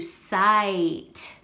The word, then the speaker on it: sight: you add silent e we know silent e is going to make the vowel say its name i s sight and we know that silent e is what silent right we don't hear it sight let's go ahead and